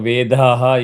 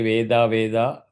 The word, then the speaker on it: Vedaha: know the correct pronunciation, if you don't have akshara shuddhi instead of Vedaha, you will say Veda Veda, da da da da means the meaning is completely different.